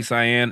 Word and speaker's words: Cyan: a billboard of Lucky Cyan. Is is it cyan or shy? I don't know how they say it. No, it's the color basically.